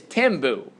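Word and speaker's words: Thembu: It is Timbu is the correct pronunciation.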